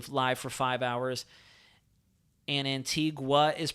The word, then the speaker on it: Antigua: maybe that is how you say it yes Antiga okay good Antiga hi everyone from Bay Mahal